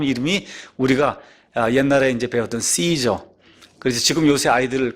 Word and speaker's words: 카이사르: 그럼 그 사람 이름이 우리가 옛날에 이제 배웠던 씨저 그래서 지금 요새 아이들 그 영어식 발음으로 하면 카이사 로 그 다음에 옛날 성경의 그걸 다만 가이사 로 아시죠 가 이사 씨 줘 카이사르 예 율리우스 카이사르 유명한 사람 아시죠 예 그